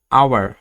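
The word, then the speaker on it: hour: যে সকল ক্ষেত্রে এইচ এর উচ্চারণ হয় না, এর পরবর্তী অক্ষরের উচ্চারণ হয়, এমন ক্ষেত্রে অ্যান বসে। যেমন অনেস্ট, আওয়ার, অনারেবল, হিয়ার।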